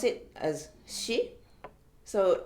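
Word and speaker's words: し: we pronounce it as she so for English speakers it's more like s h i sound so it's on the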